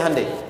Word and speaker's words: Hyundai: Sehingga ketika di sana bikin Honda, sini Hande Hyundai kan dibacanya Hande ya kan.